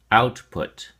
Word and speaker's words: output: your flash card output has two syllables and the emphasis or stress is on the first syllable out so we say output output make sure the